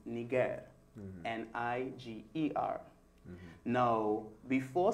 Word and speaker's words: niger: It is the Latin word for black, and that word is pronounced niger, mm-hmm.